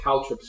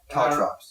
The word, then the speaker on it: caltrops: Caltrips. I think they're called Caltrops. Caltrops, yeah, Caltrops. C-A-L.